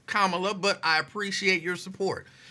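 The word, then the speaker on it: Kamala: yeah I'm voting for Cala how you think she'll take that she would probably just be like okay she might even correct you like it's kamla but I appreciate your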